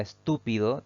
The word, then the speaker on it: estúpido: tanto debemos colocarle tilde la palabra estúpido tiene cuatro sílabas al analizarla al pronunciarla nos vamos a dar cuenta que la May mayor fuerza de voz recae en la antepenúltima sílaba contando siempre derecha izquierda por lo tanto es una palabra esdrújula y deberá llevar tilde de manera obligatoria nuestra última palabra de